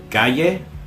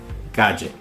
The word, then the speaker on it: calle: The double L in Spanish is just pronounced as either the English Y or the English J. So, for example, the Spanish for street could be said either calle or calle.